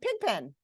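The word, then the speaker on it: pigpen: And we could identify the stressed syllable. It's pig. I don't say her room is a pig pen. I say it's a pig pen.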